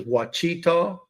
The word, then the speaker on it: Ouachita: So it's spelled Ouachita, but then back to it says Wachita.